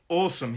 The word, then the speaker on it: awesome: Awesome, 2 syllables. The stress is on the first syllable. Awesome, it's an aw sound. So we hold that sound.